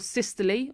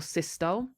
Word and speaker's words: systole: We have diastole or diastole, people pronounce this differently, atrial systole or systole, and ventricular systole or systole. So as I said, everyone pronounces this slightly differently depending on where you're from.